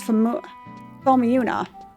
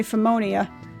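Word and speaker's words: Phomiuna: It's Fomiuna. Because I was going to say Phomonia. It's Fomiuna Aqueducts.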